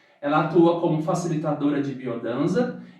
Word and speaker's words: Biodanza: dos anos 70, e em castelhano se escreve biodança, mas a pronúncia é biodança.